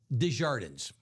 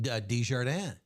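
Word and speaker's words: Desjardins: How do you pronounce his last name? He goes, "Shouldn't it be DJardan?" He goes, "Um, yes, but if I say it that way, if I pronounce it that way, people think I speak French and I don't."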